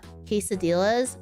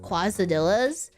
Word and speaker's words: quesadillas: I used to pronounce uh uh quesadillas quazadillas. I pronounced it quazadillas for the longest time and no one ever